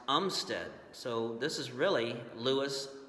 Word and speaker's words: Armistead: was a strange one his last name was pronounced Umstead so this is really